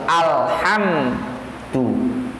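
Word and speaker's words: الحمد: Kalau tidak kokoh bunyinya beda. Bisa jadi alhamdu. Harus jelas alhamdu.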